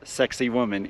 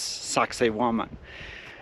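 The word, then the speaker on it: Sacsayhuamán: we are in sakan it's not actually pronounced sexy woman it's sakan and sakoman is not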